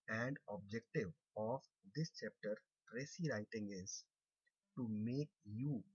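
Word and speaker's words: précis: with you the topic Preci writing. It is spelled out as Precis, but normally while speaking, we make S silent. So it is not precis writing, it is called preci writing.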